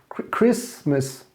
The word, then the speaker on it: Christmas: the most important festivities what you don't pronounce the t it's not christmas it's chris christmas you mean like crisscross